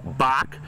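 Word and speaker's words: Bock: His name is Joe Bach.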